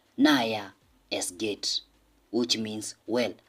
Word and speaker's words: naja: Or if the person is well, okay, the person can say, naja, es geht. Remember, J, we pronounce it as Y. So that's why I'm saying, naja, es geht.